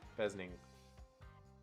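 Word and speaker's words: fesnyng: a fesning bes ning spelled f-e-s-n-y-a but it has little uh parenthesis with pronunciation so i know it's pronounced uh pheasant and i was thinking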